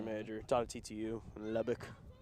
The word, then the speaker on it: Lubbock: My first reaction, I asked Mom, and she went, hey, Dad, how do they pronounce it? Lubbock. Okay, good.